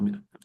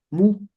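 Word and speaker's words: μ: aquí es la letra mu así así se escribe mu se puede se puede llamar mu así o mi también se puede llamar mi la letra Mi o mu pero es una letra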